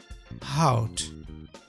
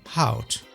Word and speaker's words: hout: The last letter in both words is pronounced as T.